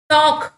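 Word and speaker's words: talk: டாக், டிஏகே தான் நம்ம வந்து ப்ரொனவுன்ஸ் பண்றோம், எல் வந்து இங்க சைலண்ட் ஆயிருது சரிங்களா.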